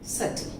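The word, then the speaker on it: subtle: Next सटल, सटल मतलब कुछ अंदर की ओर रह गया, सटल। Okay, so these are some of the cases where B is silent.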